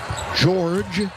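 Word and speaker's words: Georges: board of the night george niang with control of it spells his first name with an s on the end but it is silent and again the lakers take it let's turn over number 15.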